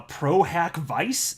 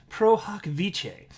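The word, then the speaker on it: pro hac vice: said it on a video i said uh pro hack vice and then somebody in the comment section said it's pronounced pro hoc vice and so i could have googled that before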